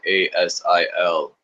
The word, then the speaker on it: Yggdrasil: It's pronounced Yggdrasil.